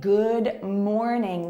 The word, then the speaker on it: good morning: So when you say good morning, the pronunciation is not very natural. Native speakers usually say good morning. Good morning. See how we don't release the D sound fully?